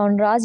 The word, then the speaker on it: genres: next हम देखेंगे primary नराज ये जो वर्ड है इसको नरा पढ़ना है हमने मैं पहले बताना भूल गई इसको जनरा या जनरस नहीं पढ़ना नरा इसे प्रोनाउंस करते हैं द प्राइमरी नराज